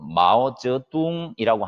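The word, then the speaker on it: 毛泽东: 모택동은 중국어 발음으로는 마오쩌둥이라고 하는데 지금 현재의 중국을 건국시킨 사람이죠.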